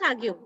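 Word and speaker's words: The Hague: come on yes it's it's pronounced as Hau okay now we will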